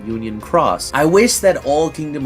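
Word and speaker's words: Union χ: like it in Brackets the new one has like uh cross telling you that that's how you're supposed to say it Union Cross I wish that all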